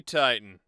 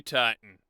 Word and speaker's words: Titan: Dueling Enemy Titan. Dueling Enemy Titan. Dueling Enemy Titan. Dueling Enemy Titan. Pronouncing both T's in Titan just sounds wrong.